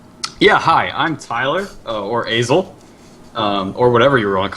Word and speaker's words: Asil: It's like a long A. Asil.